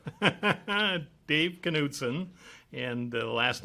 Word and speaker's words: Knudson: Can you state your name and spell it? Dave Knudson, and the last name is K-N-U-D as in David, S-O-N.